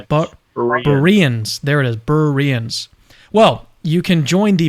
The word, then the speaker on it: Berean: What's the right way to pronounce Berean? Is it Bereans? There it is, Bereans.